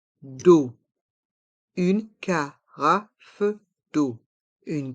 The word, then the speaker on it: carafe d'eau: d'eau une Cara d'eau les lettres e a u se prononcent o comme la lettre O d'eau une carafe d'eau une carafe d'eau une serviette une servillette